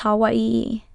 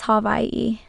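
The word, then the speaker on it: Hawaiʻi: I am wrong because Hawaii isn't pronounced Hawaii E. True it isn't T. The traditional spelling is how I and pronunciation is havi. Basically the and the H marriage the W and the and the I merge the W makes a V sound since it is surrounded by vowels.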